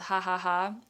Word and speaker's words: Ja Ja Ja: I'm kind of recreating one of my favorite orders at this vegan Mexican inspired restaurant called Ha Ha Ha. It's spelled Ja Ja Ja in New York City,